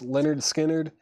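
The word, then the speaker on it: Lynyrd Skynyrd: Leonard Skinnard, pronounced Leonard Skinnard is EX2 $29.99.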